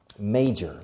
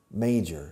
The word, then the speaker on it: major: Now, major, la pronunciación, major, se escribe major, pero se pronuncia may, como el mes de mayo en inglés, major.